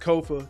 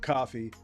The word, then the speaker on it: Kofa: As always, once again, I've been your humble host, Kofa, Kofa, not coffee, not, not Kofi, or any variation thereof. Kofa rhymes with sofa.